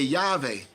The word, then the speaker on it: Yahweh: they say Jehovah, but I always say Yahweh, because there never was a J in the dialect, and are used by